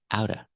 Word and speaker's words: out of: Not out of, but outa.